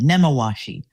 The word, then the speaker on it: Nemawashi: And the CFO at the time, he said that, well, we practice a Japanese term called namawashi. Did I say it right? I did. Nemawashi.